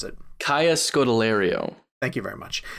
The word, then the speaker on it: Kaya Scodelario: Kaya Scodelario. Thank you very much. It is pronounced how it looks.